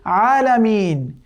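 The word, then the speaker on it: العالمين: তো হামজা হচ্ছে আ সাধারণত আ, আর আইন হচ্ছে এটা কণ্ঠের মধ্যে চলে যাবে, যেটা মানে মিন ওয়াসাতিল হালক, আইন আ। সো এটি হবে আলামিন, আলামিন।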